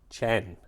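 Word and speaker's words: qian: chin chin uh so it's spelled q i a n but it's pronounced Chan uh so that's what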